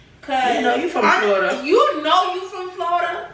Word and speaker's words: Florida: of how we talk, we can't even say Florida. Florida. It's Florida. You gotta say it the Haitian way to say it right.